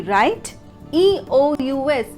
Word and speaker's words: righteous: R-I-G-H-T, right? E-O-U-S, US, righteous. But the correct pronunciation will be righteous. R-A-I, right? C-H-U-H-S, righteous. Here, the T is replaced with C-H, righteous.